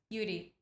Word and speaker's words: Yuri: But in Japanese, we don't have R and L. So people say Yuri, but it's Yuri. I don't know. How do you pronounce in Japanese? Yuri.